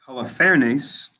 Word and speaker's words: Holofernes: Holofernes.